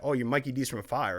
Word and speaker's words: Mikey DZZZ: She said, oh, Mikey D's? And I said, yes. And thank you for pronouncing it right.